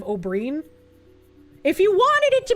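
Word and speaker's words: Oberyn: Cringe when I say O'Brien instead of Oberin.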